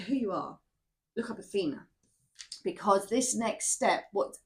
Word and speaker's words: Athena: It's Athena. A T H E N A.